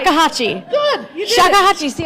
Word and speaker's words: shakuhachi: Sakuhachi, have to remember how to say it. That's it. You got it right. Shakuhachi.